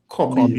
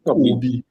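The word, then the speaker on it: Kobbie: And for the record podcasters, it's pronounced Kobe, not Kobe.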